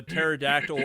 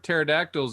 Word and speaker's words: pterodactyl: So the problem with pterodactyls is tracking them at night. Generally, you'd use the sounds of urination, but everybody knows that the pterodactyl, the P is silent.